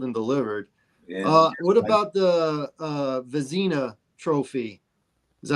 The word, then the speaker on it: Vezina: What about the Vezina Trophy? Is that how you pronounce it? Yeah, the Vezina Trophy.